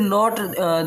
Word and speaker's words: know: कर दिया they did not they did नॉट नो what to do they did नॉट नो यहां के silent होता है नो मीस जाएगा जानते